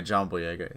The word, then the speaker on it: Boyega: big and john-boy I I'm really is it boyega am i pronouncing that right yeah John boyega yeah he sounds just like stacker he's also